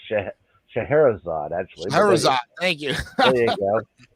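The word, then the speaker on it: Scheherazade: give us your take on the magic of sharod well let's see actually to help you out here it's sh shaherzad actually Shad thank you there you go you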